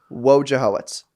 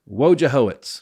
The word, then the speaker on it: Wojciechowicz: Fortune nobody would win so how do you pronounce it perfect WJ hoitz WJ hoitz yeah you got it woit that was my